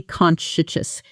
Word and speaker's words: conscientious: She's incredibly conscientious. She double-checks every email before sending it. Pronunciation: con she en shus conscientious Sentence: He's one of the most conscientious employees on the team.